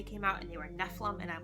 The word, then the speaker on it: Nephilim: I always pronounced them Nephilium in my head, and then the movie came out and they were Nephilim, and I'm like, what is a Nephilim?